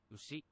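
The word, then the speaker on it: うし: Ushi.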